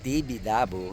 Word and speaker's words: Tibidabo: come here Kingo we are in the famous TV labu Yun daw yung tamang pagbigkas ng lugar na to So dito yung